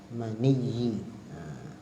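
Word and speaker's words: مَنِيّ: Bitasydidil ya, cara baca mani dengan ditasydidkan ya-nya. Tasydidkan mani, inzalul maniyyi. Tasydid ya. Wa sumi'a takhfifuha. Dan didengar juga ada yang membaca ditakhfifkan mani. Bukan mani tapi mani.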